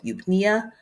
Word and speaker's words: eupnea: A patient with a respiratory rate of 8 breaths per minute is experiencing, is it A, hypoventilation, B, hyperventilation, C, the E is silent, so eupnea, or D, tachypnea?